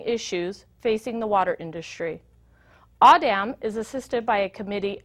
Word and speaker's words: AAWDM: leadership Lab video module series aawd and M pronounced audam is a 501c3 non-profit formed to advance the